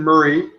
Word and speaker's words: Moray: It's from a distillery called Glen Murray, and you'll see that there it's a 40-year-old. Well, it's spelled Moray, M-O-R-A-Y, but when you're in that part of Scotland, you actually pronounce it Murray.